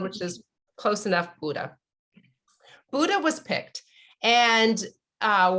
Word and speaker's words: Bodø: which people often say how do you say buddha and i guess the easiest way is just think of the the great buddha the the you just say buddha that but there's an o that looks like this